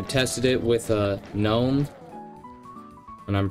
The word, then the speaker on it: GNOME: not happen I tested it with with uh gnome and I'm pronouncing it gnome to piss off the actually it's gnome people uh it just works without any issue on gnome out of the box